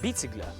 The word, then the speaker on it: біцігля: до вашої уваги слово біцігля біцігля або з наголосом на першому складі біцігля потрапила в Закарпаття від